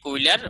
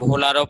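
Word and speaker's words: Wöhler: কিন্তু 1828 সালে বিজ্ঞানী বার্জেলিয়াস এর জার্মান ছাত্র ফেডারিক উইলার বা ভোলারও পড়ে, এটা জার্মান ভাষায় উচ্চারণটা উইলার না পড়ে ভোলারও পড়ে ওনারা।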